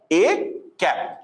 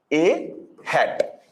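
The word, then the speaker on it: â: How it is pronunciated? It is pronunciated as A cap. It is pronunciated as A cap or A hat.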